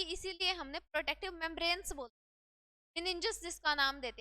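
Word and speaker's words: meninges: ठीक है, मिनेंजिस बोल दो, इसकी प्रोनाउंसिएशन अलग अलग आती रहती है।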